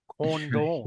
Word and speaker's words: Condon: I mean, people ask me how I pronounce my name, too. You know, condon some people are like condone condone. It's condone.